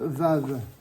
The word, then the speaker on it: vav: page 34 la lettre vave d'accord la lettre vave qui se prononce évidemment V hein comme son nomindique elle s'appelle vave elle se prononce V celui avec la voyelle